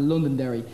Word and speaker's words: Londonderry: It's the same as the RTE one, except the word of Londonderry. Here, the first 6 letters are silent.